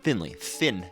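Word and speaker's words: Phinley: Finley.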